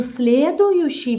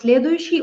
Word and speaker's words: следующий: By the way, we pronounce следующий often without you. Следующий. But you can pronounce it следующий. You can следующий. If you want, you know, if you want to articulate.